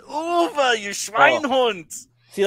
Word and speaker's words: Uwe: Have you guys ever covered the Uli Boyle Rampage films? I believe there's 3 of them. Uwe. It is pronounced Uwe, you Schweinhund.